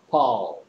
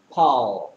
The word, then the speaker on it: Paul: Paul. Paul. 자, 여기 있는 all 우리는 뭐 아도 아니고 오도 아니고 뭐 그 사이에 있는 이상한 소리야. 그래서 뭐 미국 사람들은 Paul, Paul 이런 거고 영국 사람들은 Paul, Paul 이겠죠.